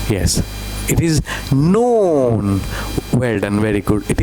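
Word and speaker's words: نون: It is noon. Well done. Very good. It is noon. N sound. Noon. Noon. What is this one? Noon.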